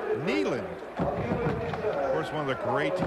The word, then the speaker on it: Neyland: asked to make a power reference to its Neyland it's not nailing some people have called in said hey the announcers are saying that wrong but it's actually pronounced Neyland where's one of the great coaches that were